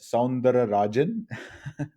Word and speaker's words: Soundararajan: short intro about myself my last name is pronounced as sandara rajan song sounds and so